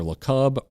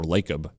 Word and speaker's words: Lacob: It's either LeCub or Lacob, whatever. It looks like Jacob. It's Jacob with an L.